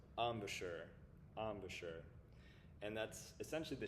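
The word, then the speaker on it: embouchure: Um and then or letter c this word is pronounced amisher.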